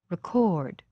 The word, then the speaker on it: record: not pronounced clearly record the verb record has stress on the second syllable the first syllable is not stressed and its vowel is not pronounced clearly record now this time i'll